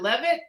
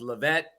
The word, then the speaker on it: Leavitt: i how is it levitt how do i pronounce it correctly that is correct the original pronunciation was lavette but over the years the english translation is levitt all right everybody now